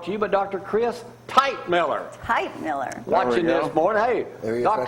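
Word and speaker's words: Teichmiller: Tightmiller, don't forget tomorrow, bring an eye test over here where we can take an eye test on the show. And it's spelled Teich. Tightmiller.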